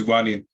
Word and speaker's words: wanted: Is wanted. Excellent. Wanted. Porque tenemos la T aquí. Y si le agregamos la ed, it is id.